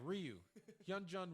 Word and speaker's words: Ryu Hyun-jin: with huh youngji oh god I messed his butchered his name already you yeah Ryu hyun-jin Ryu that's it yes they he max time